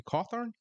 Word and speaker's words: Cawthorn: Matthew Cawthorn. Is that Yeah, how you Cawthorn, was pronounce it?